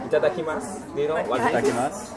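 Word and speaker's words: いただきます: Itadakimasu.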